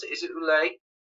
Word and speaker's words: Ouellet: Eric, is that how I pronounce it? Is it Ouellet? It's Ouellet.